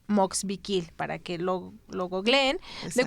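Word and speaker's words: Moxviquil: cómo Se escribe la Universidad Moxikil es m de de mamá, o de oso, x v i q u i l. Moxvikil, así como se oye. Moxvikil para que lo googleen.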